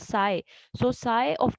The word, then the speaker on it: psi: this is psi, FPSI, we pronounce this symbol as psi.